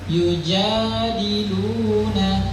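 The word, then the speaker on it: يجادلون: Ada juga yang terlalu berlebihan panjang. Nah, ini seringkali mungkin yang sering dibaca oleh orang-orang. Yujadiluna. Nah, itu terlalu panjang. Jadi bacaannya cukup dua harokat.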